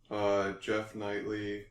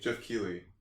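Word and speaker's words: Geoff Keighley: Jeff Knightley. Is that how you pronounce his name? Keeley. Jeff Keeley.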